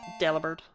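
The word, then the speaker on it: Delibird: thinking about Del bird well Del bird as it's supposed to be pronounced I uh I actually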